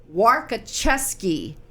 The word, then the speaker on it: Warkoczewski: Carol Warkoczewski. Carol, did I say it right? You did.